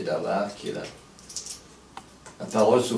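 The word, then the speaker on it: דבר: est le verbe créateur, et Dabar, bon, prononcé Dabar, qui est la parole sous forme humaine.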